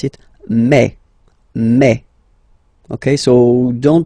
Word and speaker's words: mai: In French, remember when you combine this A and then I vowels, you get the sound E. So really open E, okay, and then you pronounce it me.